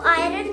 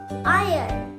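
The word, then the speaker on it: iron: नहीं, इसको आयरन नहीं बोलते, हम इसे बोलेंगे आयरन, आयरन, आयरन, आयरन, आयरन, आयरन। मेरे साथ रिपीट करो, आयरन, आयरन, आयरन। आर is sleeping, are is sleeping here, are is silent.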